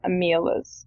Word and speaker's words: Omelas: Guinn called The Ones Who Walk Away from Omelas. Omelas? Omelas. I think I wrote how it was meant to be pronounced.